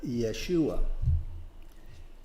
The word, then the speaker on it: Yeshua: research on it jesus in hebrew we we pronounce it yeshua and it's uh it's a form of uh